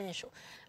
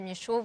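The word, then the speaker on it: Michaux: J'ai 2 cobosissimes, dont un particulièrement auquel je tire beaucoup, c'est Nicolas Michaud. Alors Nicolas Michaud, c'est un artiste belge qui a un nom un peu passe-partout. Ça s'écrit M-I-C-H-A-U-X et qui écrit des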